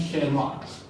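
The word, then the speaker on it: Tschermak: ह्यूगो डीब्रिज, Eric von शेरमार्क, Eric von शेरमार्क। ये शेर नाम सुन के तुमको छाती नहीं फैलाना होता बैठ के, पूछता है। ठीक है, ये टी से स्पेलिंग स्टार्ट होती है, टी साइलेंट है।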